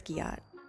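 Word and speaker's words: Giott: Well, I'm pretty sure it's Got cuz they don't do a a J sound. They do a G sound.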